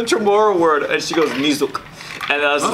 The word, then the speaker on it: niyok: So they pronounce the Y as a Z.